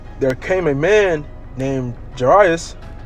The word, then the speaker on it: Jairus: And behold, there came a man named Jairus. Pronounce that right?